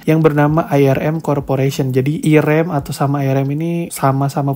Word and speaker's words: Irem: kebingungan di masyarakat lalu diganti dengan nama irem ya irem irem pokoknya gitulah cara bacanya Ya International rental electronic